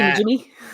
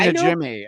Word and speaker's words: Najimy: Kathy Najimy? Yeah. That's the goal. Is that how you say it? I've heard it Najimy. I've heard it Jimmy.